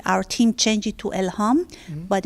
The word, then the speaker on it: Elham: And your name is spelled E-L-A-N? Elham. Elham.